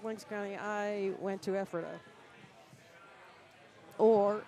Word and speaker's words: Ephrata: County, I went to Ephrata. Or if some folks don't know how to say it, they say Ephrata, because you're just afraid of what happens next there.